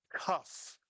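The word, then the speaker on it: כ: And one of the things you really have to memorize is that a cuff with a dog in it makes the English sound of c K cuff.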